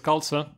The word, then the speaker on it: Galsa: Her name is Galsa. Rhymes with salsa.